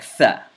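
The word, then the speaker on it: ث: The letter thaa. The letter thaa. Thaa. Again, this is another letter that is pronounced from the tongue. But this letter, in this letter, the tongue comes out between your teeth.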